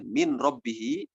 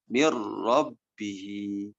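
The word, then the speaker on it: مِن رَّبِّهِ: Kemudian ketika bertemu dengan huruf ro, tulisannya min robbihi, dibacanya mir robbihi.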